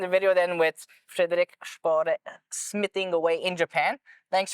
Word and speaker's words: Spåre: Spåre.